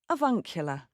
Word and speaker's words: avuncular: Americans tend to say the R at the end, avuncular, whereas the British will say avuncular.